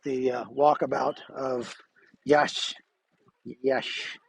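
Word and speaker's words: Iași: the uh walkabout of yash yes it's it's another iasi is the way you spell this town's name but it's pronounced like yash so okay there you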